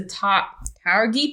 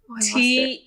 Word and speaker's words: Tuareg: The Sandbenders are influenced by, don't know how to say this, the Taurgi people in northern Africa. Oh. Taruget. Get my phone. This is already a mess. Yeah. There's lots of pronunciation. Tuareg.